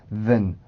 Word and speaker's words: than: 역할을 대부분 해주기 때문에 보통은 then, 슈아 발음으로 바꿔서 하는 경우가 많습니다.